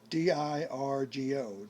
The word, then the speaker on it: Dirgo: d i r g o.